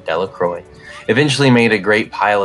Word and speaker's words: Delacroix: Bobby and Harry Jones and Dickie Delacroix, the villagers pronounced his name, Delacroix, eventually made a great